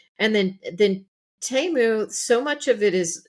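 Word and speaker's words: Temu: about right now are TAMU which I mispronounced as teu for a long time and then T I thought it was teu and Sheen which looks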